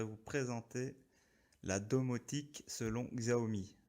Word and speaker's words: Xiaomi: présenter la domotique selon xao me xiaomi pour ceux qui veulent prononcé à la chinoise moi je dirais xao me vouvoyer devant moi donc